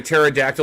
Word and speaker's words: pterodactyl: to tell when a pterodactyl is going to the bathroom no i don't know chris why because the p is silent oh what about though